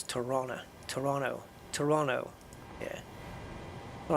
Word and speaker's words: Toronto: pronounce it I know you don't pronounce the T in Toronto you don't say Toronto I believe I'm told it's Toronto Toronto Toronto yeah all